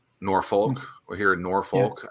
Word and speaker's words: Norfolk: I went to a volleyball game here at Virginia Beach, and I first pronounced it as like Norfolk, and someone's like, "Oh, don't say that. It's Norfolk."